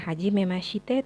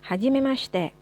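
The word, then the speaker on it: はじめまして: kata Hajimemashite hajimemaste hajimemaste Biasanya kalau huruf C dalam bahasa Jepang memang tidak terlalu diucapkan hurufnya ya jadi kayak kita bilang hajimemaste huruf ini jadi bukan Hajimemashite tapi hajimemaste hajimemaste lanjutkan dengan menyebutkan nama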